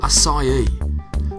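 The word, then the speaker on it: açaí: of the assai berry what is it it's pronounced assai the asai berry is one of the world's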